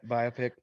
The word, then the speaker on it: biopic: they made a biopic biopic i never know how to say it yeah buy a pick biopic if they made